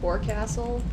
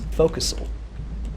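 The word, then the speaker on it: forecastle: a s t l e oh my God for Castle it's focusel no it's for Castle I would have pronounced it for Castle as well all right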